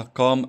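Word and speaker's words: calm: معناها هادئ فيقول لك معناها قام اند كويت يعني حاجه طبعا الال فيها ما بتنطقش مش معناها عود يعني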